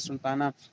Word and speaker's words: سلطانہ: ہائے مختفی جو لکھی جاتی ہے لیکن نہیں پڑھی جاتی ہے جیسے پروانہ سلطانہ.